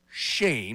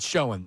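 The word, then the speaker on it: Schoen: Joe Shane is how you pronounce his name for the Giants. Correct. I I don't know if I got it wrong earlier. Joe Shane. No, I said show him. It's Shane.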